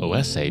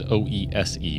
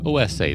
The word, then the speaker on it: OESE: tell you I know the game is called OSA because I asked now you might look at it it looks like it says OSE but o si that is how they pronounce it so I'm going to